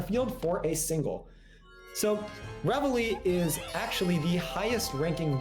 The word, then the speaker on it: Reveille: Reveille, I think is how you pronounce it. If I'm wrong, you have all permission to correct me in the chat. Okay, it is Reveille.